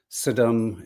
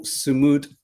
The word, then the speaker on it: Sumud: the incredibly brave global Saddam. Is it Saddam? I could never get the pronunciation correct. The global Sumud Flatilla.